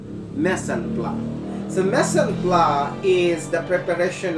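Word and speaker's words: mise en place: uh missing place but allow me to correct that the correct pronunciation of that is mesen blood so messenger is the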